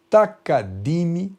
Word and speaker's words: takadimi: Takadimi tem que ser dito dessa maneira, porque nós do Brasil temos na nossa forma de falar takadimi.